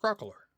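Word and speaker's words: Crocalor: Meowscarada, Fuecoco, Crocolore, it's Crocolore, Skeledirge, Quaxley, Quaxwell.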